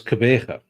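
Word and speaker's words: Gqeberha: Devil, can you hazard the pronunciation of Port Elizabeth's new name? How did somebody say it's an alphabetical soup? It's Kebega.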